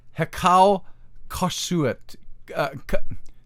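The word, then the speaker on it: heqa khasut: Hyksos, and from the Egyptian expression, which is pronounced Hekau Kasut, Hekau Kasut, and that means Hekau Kasut, or Hyksos, means the rulers of foreign lands or from foreign lands.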